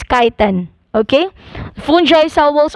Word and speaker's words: chitin: me change uh not change let me again pronounce the it's not cheating it's kaiten okay fun joy cell walls are made of